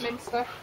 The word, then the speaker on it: Minster: Minster. Minster. Like spinster.